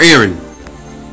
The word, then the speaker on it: Aran: Aran or Aran? I pronounce Aran.